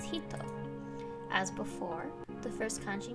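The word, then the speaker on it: 人: is the hiragana and the last kanji is pronounced hito as before the first kanji means female and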